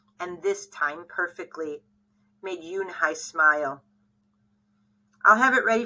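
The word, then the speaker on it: Unhei: turned to Joey she nodded slowly yes it's pronounced Yoon Hai it means Grace Mr Kim added Yoon Hai Joey had said slowly and this time perfectly made Yoon Hai smile I'll have it ready for you tomorrow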